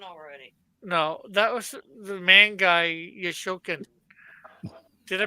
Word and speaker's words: Mangai Yoshokan: No, that was the ManGai YoShoKan. Did I pronounce that right?